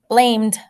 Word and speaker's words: blamed: Blamed. It almost sounds like a T, right?